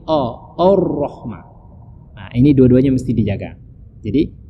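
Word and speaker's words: الرحمن: anak muda sekarang itu arroh dibaca ar-rahman gironya tidak ditebalkan merasa harusnya Roro itu ditebalkan jadi bacanya dari tahu Rohmah itu perlu kedua-duanya huruf alif karena awalnya dibaca tebal makanya menjadi our Rohma Ini dua-duanya mesti dijaga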